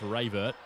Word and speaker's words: Ravert: It's not Mike Rabbit. It's Mike Ravert.